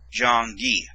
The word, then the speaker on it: 장기: And this letter makes a G sound, sound of the letter G, which is G. And this makes a long E sound, so it's Gi, Jong-gi.